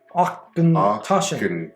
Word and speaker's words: Auchentoshan: Oh, look, that's how you pronounce it. Auchentoshan.